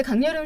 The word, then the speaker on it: 강여름: 강여름. 네. 강열음으로 이렇게 들리잖아요. 여름. 네, 발음이 음이 또 그렇게 열린다?